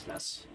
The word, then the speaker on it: Weiss: I think it's Vess. The eye is silent.